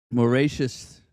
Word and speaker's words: Mauritius: Mauritius is how you say it.